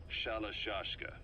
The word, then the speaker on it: Sharashka: Someone must have known about that because somewhere along the line, Shashka got stuck on the end of Sharashka. The gorillas were using the name amongst themselves. By the time I got to hearing about it, pronunciation had wound up as Shalashka.